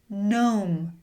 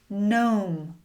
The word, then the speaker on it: gnome: Gnome. Gnome. Gnaw. Gnaw. Gnat. Gnat." You can see "G" is often silent before "N" when it starts a word.